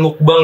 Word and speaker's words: mukbang: Pronunciation mukbang tuh bukan mukbang ya guys, tapi yang benar tuh mukbang.